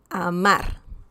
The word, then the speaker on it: amar: Now, the next example, amar. Amar. Okay? It's not amar, it's amar. Okay? So we can feel the stress here. That's the stressed syllable. Amar.